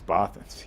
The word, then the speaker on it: Bothans: which character said many bothans died to bring us this infrared correct you it's bothans yes atlas goes up one nothing i like almost said it right but then i got